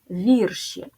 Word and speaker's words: вірші: наступне однина вірш множина вірші наголос сталий і він залишається на першому складі запам'ятайте потрібно вимовляти вірші